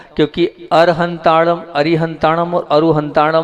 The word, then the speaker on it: अरिहंताणं: हूं क्योंकि अर हंता अरिहंताणं और अरु हंता में जो है आप ना बोलते वण है क्या है ण ण का उच्चारण आप लोग नहीं करते हो जबक ण का उच्चारण